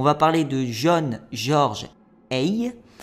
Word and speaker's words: Haigh: On va parler de John George Hay. Ça se prononce Hay, ça s'écrit H-A-I-G-H.